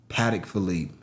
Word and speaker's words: Patek Philippe: Patek Philippe.